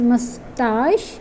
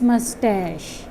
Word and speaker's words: mustache: pronunciation it has, and there are 2 different pronunciations, British and American. So the first one is mustache and the second one is mustache. Mustache or mustache, both pronunciations are correct for this word. The only difference is a and a sound.